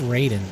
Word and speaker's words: Raiden: kid, I was like, he said his name wrong. It's Raiden. Like why why do you say Ryder?